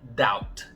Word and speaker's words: doubt: Apesar de não estar no final da palavra, o B aqui também vai ser mudo. A pronúncia correta dessa palavra é doubt, sem falar o B. É como se ele nem existisse.